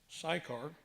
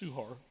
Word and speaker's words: Sychar: little town called sukhar we americans pronounce it psychar but it's more closely pronounced suhar and he met a